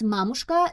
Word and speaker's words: Mamushka: I think it's Mamushka, not Mamushka, because a lot of people from United States or English speakers, they try to pronounce a lot of Slavic names with a little bit different syllables or with a little bit different pronunciation, and I believe they would say Mamushka, but it's Mamushka.